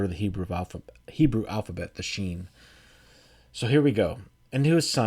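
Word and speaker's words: ש: And the letter, pronounced Sheen, looks like this.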